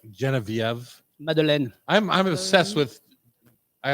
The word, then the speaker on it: Geneviève: I always thought it was Guinevere, but it's Geneviève. Genevieve. Did you know that? Yeah. I call my friend Genevieve when she's being pretentious. Really? Oh. Mhm. Well, that's the way you're supposed to pronounce it in French.